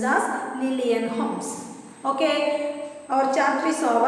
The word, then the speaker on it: Holmes: HOLMES, and the L is silent there, and it is pronounced as Lillian Holmes.